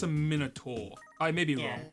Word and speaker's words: Minotaur: hired like minotaurs and stuff. So I didn't think that was the ant one. oh right, that wasn't Combated Ants. Okay, now if we want to talk about pronunciation, Minotaur?